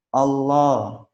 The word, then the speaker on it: Allah: Jadi pengucapan lafaz Allah ini ada 2 cara. Jika di awal atau huruf sebelumnya berharokat fathah atau dhammah, maka dibaca tebal atau tafkhim. Bacaannya seperti ini. Allah, huwallah, ayatullah, Rasulullah, innallah, barakallah, radhiyallah, nasrullah.